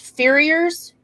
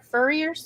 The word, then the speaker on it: farrier: and I gather most farriers Furriers? It's Farrier. hard to pronounce So with it's the southern farrier. accent. Farrier. Okay, farrier.